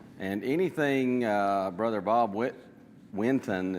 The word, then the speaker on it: Winton: commentary on proverbs and anything uh brother Bob Winton it's w i n t o n I sometimes want to pronounce that whitten for some reason I think it's just uh